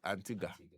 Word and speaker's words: Antigua: Anti Antigga. Antigga, but they spell it G. There's UA but it's called Ga.